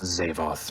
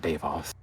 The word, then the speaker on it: Zavoth: And By the way, We're it is clear of this pronounced Zavoth, not Davoth.